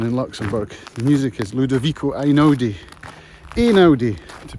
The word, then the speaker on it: Ludovico Einaudi: The music is Ludovico Einaudi, to pronounce it correctly, which I just learned about on a podcast.